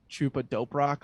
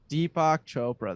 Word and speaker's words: Deepak Chopra: this book, The Seven Laws of Success by Chupa Doperock, or what, I forget the freaking guy's name. I just butchered it, but basically he explains this Deepak idea Chopra. of Deepak Chopra.